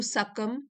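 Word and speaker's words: succumb: Yet they refused to सकम, B silent है, सकम टू सेटबैक्स।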